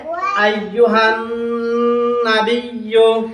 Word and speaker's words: أيها النبي: High গিয়া নুনের ধরছে, নুনের মধ্যে তাসদিদ, নুনের উপরে তাসদিদ হলে কি করতে হয়? গুণনা করতে হয়। নুনে বা মিমে তাসদিদ হলে গুণনা করে পড়তে হয়।